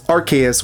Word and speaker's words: Arceus: According to the animated series dub's then voice director Tom Wayland, the dub chose to pronounce Archus with a hard C instead of a soft C due to concerns over the latter pronunciation's potential implications in British Englishspeaking territories.